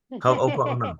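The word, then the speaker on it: Hoʻoponopono: It is pronounced ho oh oh oh no. Ho'oponopono.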